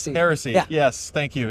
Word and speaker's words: Heresy: Yeah, I'm a sucker for walnut, but the red oak's pretty sweet because your Hershey uh I'm mispronouncing it. Heresy.